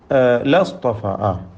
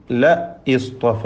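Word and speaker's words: لَاصْطَفَىٰ: ലാ ലാ ലസ്തഫ, ലസ്തഫ, അതെ, അവിടെ യഥാർത്ഥത്തിൽ ല ഇസ്തഫ എന്ന ഹംസത്തുൽ വസ്ൽ ഉച്ചാരണത്തിൽ നിന്ന് കളയപ്പെടുകയാണ്. ല ഇസ്തഫ, ആ ലാമ് തൗക്കീദിനുള്ള ലാമാണ്. നിശ്ചയമായും അവൻ തിരഞ്ഞെടുക്കും എന്നർത്ഥം. ലസ്തഫ, ല ഇസ്തഫ എന്നുള്ളത് ലസ്തഫ എന്ന് ചേർത്ത് ഓതേണ്ടതാണ്.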